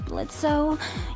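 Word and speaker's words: Blitzø: The O is silent, I think I want to give this another try.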